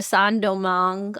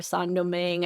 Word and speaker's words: Saint-Domingue: But we're going to Saint-Domingue or Saint-Domingue. I've heard it pronounced both.